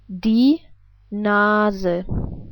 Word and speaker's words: Nase: We would pronounce it like die Nase.